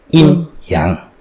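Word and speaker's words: yin yang: iny inyang keseimbangan yinyang Kalau bahasa Indonesia Tapi bacanya Harusnya inyang itu mengenai bahwa di dalam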